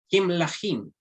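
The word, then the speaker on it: כמלכים: Entonces la preposición ya no llevará una E, sino una I, un puntito. Entonces vamos a pronunciar Kimlahim.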